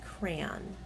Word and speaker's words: crayon: How do you pronounce crayon? Crayon. To my ears, that sounds like I'm saying a word that rhymes with man.